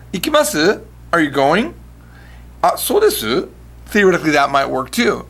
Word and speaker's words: desu: But 9 times out of 10, you're going to hear des, not desu.